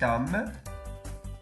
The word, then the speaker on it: homme: E no francês não se pronuncia o H com som de R. É como no português. A gente vai falar homem. A gente vai falar homem. Então, homme, cet homme.